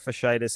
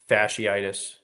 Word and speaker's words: fasciitis: games last year he had plantar fitis I think that's how Pat is that how you pronounce it plantar fastis fastis say it again Pat fasciitis fasciitis so played 86 games